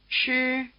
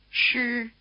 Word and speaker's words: 诗: 诗西思 The sound value of the letter I after a retroflex consonant such as SH is a prolonged R sound with a full vowel strength. Remember that the retroflex consonants are pronounced with the tongue in this same R position. Listen to the first name. 诗诗诗 Try repeating the name, keeping your tongue curled back throughout.